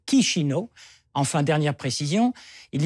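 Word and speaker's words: Chișinău: ça c'est l'histoire ancienne la capitale de la Moldavie c'est shizino en tout cas il faut prononcer kishino enfin dernière précision il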